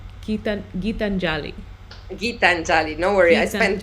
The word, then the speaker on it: Gitanjali: pronounce her first name? Gitanjali. Gitanjali.